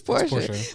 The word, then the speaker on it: Porsche: at Porsche dealerships saying that it is pronounced Porsche, and you pronounce it Porsche, and somebody will still tell you you're wrong, Porsche. And that is Porsche. Even though the people who work there say that it's Portia.